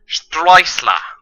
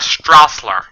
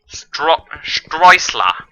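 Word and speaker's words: Sträussler: So it's pronounced Streusler. Not Strassler. Streusler. Because when you anglicize the umlaut A, it is spelled AE, kind of like the AE in Michael.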